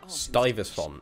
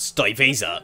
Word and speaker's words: Stuyvesant: haven't played the other two for a while stuyvesant that's how you say his name not stay visa oh my god why are we so high